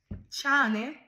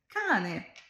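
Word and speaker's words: cane: প্রথম, এটা কিভাবে উচ্চারণ করব? চানে, এটা হবে কানে।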